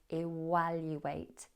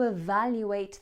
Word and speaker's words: evaluate: Evaluate with a v.